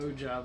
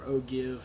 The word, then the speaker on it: ogive: Now, the paper and pencil part comes in handy, where you measure to the ogive of the projectile, or ogive, however you want to pronounce it.